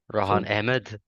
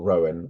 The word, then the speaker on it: Rohaan: than my family who say my name correctly ran Ed because everyone says which I'm fine with don't worry it's fine I've learned to accept it um or Rowan I think I got